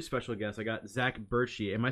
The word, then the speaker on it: Bertschy: I got Zach Bertschy. Am I saying that last name correctly? Yeah, Bertschy.